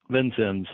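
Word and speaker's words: Vincennes: Troy Hinkle is the development director for Knox County Soil and Water Conservation District in how do you pronounce that city? Vincens's Vincens's Indiana and a member of the steering committee for South Southern Indiana Cooperative Invasives Management.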